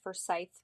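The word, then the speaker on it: Forsyth: about Lake laner just wanted to say it's pronounced for Scythe County um but a plus for effort um I have been born and raised here in forye County I live about 20 minutes from Lake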